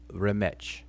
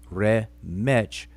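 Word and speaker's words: rmṯ: is the word rematch this is how we say it today although the pronunciation is never meant to be taken as historically accurate why because the the hieroglyphic writing system did not document vowels so when we say re metch we're inserting vowels in order to be able to pronounce the word uh vowels are the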